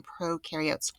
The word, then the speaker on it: prokaryotes: parts then do prokaryotes pro rhymes with no because there's no nucleus these guys are bacteria